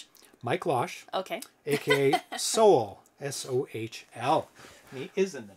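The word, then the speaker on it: Sohl: This is a brand new game by Mike Losh, and he sent me the pronunciation of his name. Okay. So I wouldn't mess Losh? Up. Mike Losh. Okay. AKA Soul, S-O-H-L.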